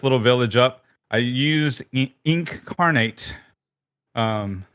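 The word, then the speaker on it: Inkarnate: village up I used ink carnate um it's like incarnate but spelled with a a k um I use incarnate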